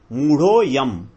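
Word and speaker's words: मूढोऽयम्: यहां पर मूढ़ो है तो अयम जो है, इसमें अ जो है वो साइलेंट है, तो हम इसको जब मूढ़ के ऊपर जो मात्रा लगी हुई है मूढ़ो, तो ढ़ो को हम आगे खींचेंगे, मूढ़ो अयम, मूढ़ो यम, अयम नहीं बोलेंगे, मूढ़ो यम।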